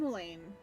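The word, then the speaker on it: Llymlaen: Gaze of the nation's Patron deity Lim Lane lolan okay that's how you pronounce it line where hi fcri inning of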